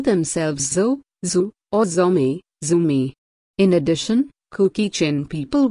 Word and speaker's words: Zomi: But when Zomi is pronounced as Zumi, and Mizo as Mizu, their meanings become something quite different.